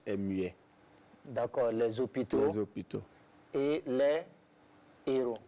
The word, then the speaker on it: hôpitaux: Oui, devant un H bien muet. sûr, bien sûr. Oui. Voilà, les hôpitaux. Mais je ne peux pas dire les zéros. Mais les hôpitaux, voilà.